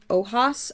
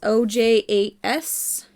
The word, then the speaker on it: ojas: right you got believe is pronounced ojas Oh Jas and let's see here